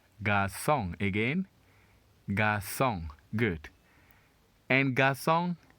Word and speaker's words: garçon: The word is pronounced garçon, garçon.